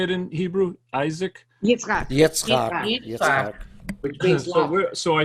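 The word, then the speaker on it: יצחק: Yitzchak.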